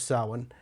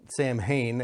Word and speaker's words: Samhain: the land that originally gave us Samhain, or Samhain, as it's incorrectly pronounced sometimes in the first place.